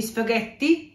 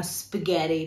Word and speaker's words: spaghetti: caso di necessità, ma non si dicono spaghetti proprio con la nostra pronuncia bella marcata, ma spaghetti, perché ovviamente essendo una parola italiana, ma che diciamo pronunciata dalle persone che sono inglesi o americane, hanno perso un pochettino la loro pronuncia originale, quindi dovete dire spaghetti, ok?